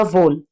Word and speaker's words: whole: डब्ल्यू के बाद एच जो होता है वो साइलेंट होता है, तो ये पढ़ा, और ई भी साइलेंट है यहाँ पे, तो ये पढ़ा जाएगा वोल।